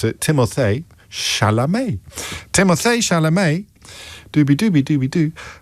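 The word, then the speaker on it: Timothée Chalamet: Timothy Shamlet is the focus of this one.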